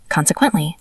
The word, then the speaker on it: consequently: Consequently, I failed the exam. Consequently is a long word, 4 syllables. Con-se-quent-ly.